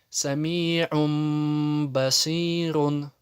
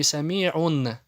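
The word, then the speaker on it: سميع بصير: Сами'ум басирун. Не сами'ун, а сами'ум басирун.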